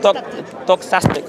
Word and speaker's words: doxastic: Doxastic. Doxastic. Like a doxology.